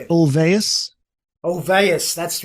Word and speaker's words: Ulvaeus: Ulvaeus, that's right. Yes, it's the thing about Swedish language. It's so hard to pronounce in English a lot of times.